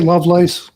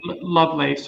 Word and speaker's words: Lovelace: a special guest Terry lovess um am I pronouncing that correctly I say love lace but yeah okay love lace okay Terry love lace um he has a